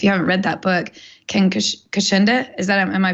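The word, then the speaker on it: Ken Kocienda: If you haven't read that book, Ken Kashinda, am I pronouncing it right?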